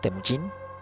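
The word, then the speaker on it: Temüjin: temin estaba en riesgo temin era el verdadero nombre de de kh temin es como que la forma correcta de pronunciarlo y bueno este niño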